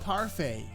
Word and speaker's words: parfait: Oh, Parfait.